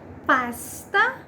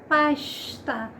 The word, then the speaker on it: pasta: Então, o S com o som do X. Pode pronunciar pasta? Tá errado? Não está. Vou ter outras regiões do país que vai ter a pronúncia de pasta. Mas a pronúncia carioca é pasta.